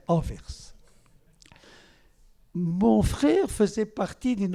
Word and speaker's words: Anvers: que vous appelez Anvers parce que vous ne prononcez pas le S de la fin. Mais pour ceux qui sont ici, je précise, il faut prononcer le S. C'est Anvers et pas Anvers. C'est pas Anvers et tout ou n'importe quoi, c'est Anvers.